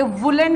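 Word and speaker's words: woollen: ये वुलन है, उलन नहीं होता, ये वुलन, अ वुलन कोट।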